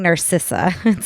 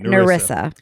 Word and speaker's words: Narissa: is it Narcissa narissa I think I was saying Narcissa so I've probably said it wrong this whole podcast it I should have looked this up sooner it's fine it's fine nerissa all right so let's